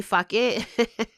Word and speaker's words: Phuket: one party, it's spelled Phuket, Phuket, like the Thailand city, but they say fuck it.